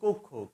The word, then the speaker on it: কক্ষ: ও ধ্বনির মত হবে যেমন কক্ষ আমরা অনেকে কক্ষ উচ্চারণ করি শ্রেণী কক্ষ বলি কিন্তু আসলে উচ্চারণটি কক্ষ কেন কক্ষ এই কক্ষ শব্দের শুরুতে ক এর